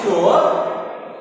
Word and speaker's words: sure: The word S-U-R is sure. S makes sound like sha sound.